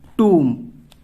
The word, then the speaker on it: tomb: देख रहे हैं आप लोग, यहां पे आप लोग देख सकते हैं TOMB, इसको हम लोग क्या पढ़ते हैं, टूम। तो यहां पे भी देखिए B साइलेंट है।